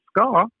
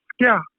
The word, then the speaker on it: ska: We don't pronounce it ska as the British do. We pronounce it skia.